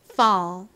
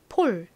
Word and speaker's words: fall: 것도 한번 따라해 보세요 fall 좋습니다 한국식으로는 주로이 단어를 어떻게 표기한다고 말씀드렸죠 요렇게 표기를 하는 경우가 많습니다 폴 폴 이렇게요 하지만 실제 미국식 영어 발음으로는 fall 이렇게 발음이 됩니다 미국 사람한테 폴 이렇게